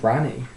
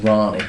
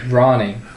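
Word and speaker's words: Rani: might just not god who's ranny pronounced ronnie ronnie okay the ronnie in fact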